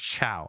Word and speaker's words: ciao: Uh Playful Cheetah says it's pronounced ciao. Oh, ciao.